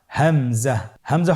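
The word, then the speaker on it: همزة: পরবর্তী হরফটির নাম হামজা। হামজা হরফটি উচ্চারণ ক্ষেত্রে বারিক করে উচ্চারণ করতে হবে এবং এখানে টেনে পড়া যাবে না।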